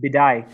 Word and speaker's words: Bidai: called Bidai. Yep. He wants to be called Bidai, not Bidi.